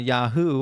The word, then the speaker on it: Yahweh: and the worship of the the god uh Yahoo or Yahweh yah it's the same name different pronunciation it's Yahweh okay the long and short of it is